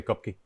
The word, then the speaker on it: Kopke: I'm mispronouncing it right cupcake cupcake in Portugal they say cup but in the states we just say cupcake okay uh yeah I'll